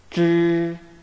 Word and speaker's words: zh: Here, the letter H is not pronounced, but represents a retroflex sound.